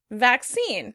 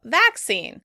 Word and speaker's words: vaccine: Vaccine. The British stress the first syllable, vaccine, vaccine. Americans say vaccine, vaccine.